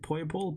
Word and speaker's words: Poipole: Poipole.